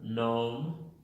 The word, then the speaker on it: gnome: La 70, G al principio de la palabra, la G es muda. Por ejemplo, en la palabra gnome y narrow.